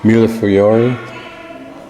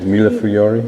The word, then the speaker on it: millefiori: Millefiori. Is that how you say it? Millefiori? Yes.